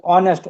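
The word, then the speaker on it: honest: ऑनेस्ट ऑनेस्ट नहीं पढ़ते हम इसको ए साइलेंट है यहां पे ऑनेस्ट ओ है ना तो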